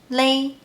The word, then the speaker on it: 咧: Even though the ping and 注音 of this character is 咧, in daily life we pronounce it as lay.